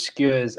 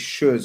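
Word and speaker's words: Schuurs: It's Schurz, not Skurs. Yeah. Oh, Skurs, Skurs is you're thinking about chicken skewers and lamb skewers. Yeah. This brother's Schurz, Per Schurz. Yeah, that's how you say it.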